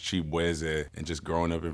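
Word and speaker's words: Chibueze: I'm Nigerian American so my last name is actually pronounced Chap and just growing up in Virginia like everybody just did not know how to Nate my name so they was just like shabzi and I was like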